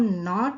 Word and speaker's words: knot: अगर हम नॉट शब्द को लें, KNOT, नॉट शब्द को लें तो इसका अर्थ, इसमें भी के साइलेंट होता है, पर इसका अर्थ होता है ज्वाइनिंग ऑफ स्टीयरिंग और रोप।